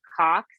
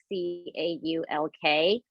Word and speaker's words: caulk: For us, we call it caulk, C-A-U-L-K. Yeah. And probably because of my accent here in Texas, we just call it caulk. you don't pronounce the L.